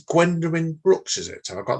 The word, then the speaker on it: Gwendolyn Brooks: And it's Gwendolyn Brooks, is it? Have I got that pronounced right? Yeah, Gwendolyn Brooks, yeah.